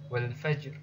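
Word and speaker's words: والفجر: Begitu juga dengan langsung latihan saja, wal fajr. Nah, ra-nya ini dibaca tipis, fajr, jim sukunnya ini dibaca tertekan, lalu kemudian diikuti dengan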